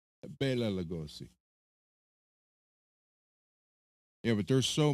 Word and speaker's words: Bela: Actually, well, people say Bella. It's actually pronounced Bela. Bela Lugosi.